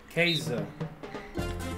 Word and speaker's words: Käse: Käse. Is how you pronounce cheese.